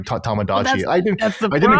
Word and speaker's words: Tomodachi: I mean you you pronounce it correctly. Tomodachi.